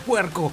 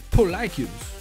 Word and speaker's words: Pollachius: ¡Puerco! Pues no, no se pronuncia así. Su traducción oficial del latín, según Google Translator, es Polycus. Es Polycus.